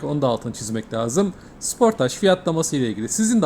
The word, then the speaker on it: Sportage: Bu arada isme takılanlar için Kia Sportage değil, Kia Sportaj diye okunuyor. Koreli markada bir süre çalıştım. Korelilerin de telaffuz şekli böyle. Özellikle Avrupa pazarında da sportaj, İngiltere pazarında sportaj olarak adlandırılıyor.